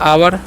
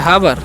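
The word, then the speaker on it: hour: तो लिखा हुआ एच ओ यू आर, तीसरा पढ़ते हैं आवर, क्या हावर, नहीं आवर पढ़ना है, क्या पढ़ना है आवर। यहाँ पर एच साइलेंट है तो आवर मतलब क्या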